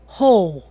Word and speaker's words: whole: Ouçam agora 2 casos de palavras bastante usadas onde o W não é pronunciado. Whole?